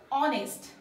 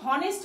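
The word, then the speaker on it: honest: আমাদের এটার উচ্চারণ কি অনেস্ট অনেস্ট কিন্তু আমরা তো হনেস্ট বলছি না এইচ টা হচ্ছে এখানে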